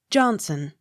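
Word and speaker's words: Johnstone: v i s jarvis j o h n s t o n e johnson the t not sounded k e n n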